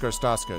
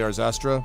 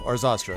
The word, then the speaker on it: Arzastra: Yeah, her name is actually Arzastra. I just like to mispronounce it because there's a million names just like that. So Arzastra, that's actually the name.